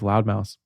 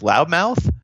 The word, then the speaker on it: Loudmouse: I feel like I have to spell it because like half the time everybody goes loudmouth. Right. I'm like, oh, not loudmouth, it's loudmouse.